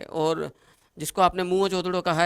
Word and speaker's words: मोहनजोदड़ो: याद रखना, सिंधी भाषा में, जिसको हम गलत उच्चारण, इसका रॉन्ग प्रोनाउंसिएशन करते हैं, मोहनजोदड़ो। मोहनजोदड़ो इज नॉट A correct pronunciation, उच्चारण। सिंधी भाषा में सही शब्द है मोहनजोदड़ो, जिसको प्रेतों का टीला